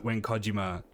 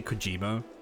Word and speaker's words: Kojima: I keep wanting to say Kojima, but I'm trying to make the effort to try and pronounce like Japanese names the way they say them, and I'm pretty sure it's Kojima.